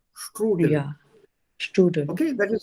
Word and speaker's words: Strudel: So how to pronounce it? Strudel? Stru. S-T-R. True. And the S is Yeah. always with a sh sound. Strudel.